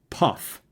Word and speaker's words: pF: the 60s or 70s they might pronounce picof farad PF as Puff so they might say well you know you need a 47 puff cap in there that's what you need